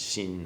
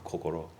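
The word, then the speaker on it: 心: and heart um the the character in chinese is pronounced in japanese shin or kokoro and it unifies a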